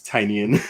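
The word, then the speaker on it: Tynion: It's Tinian.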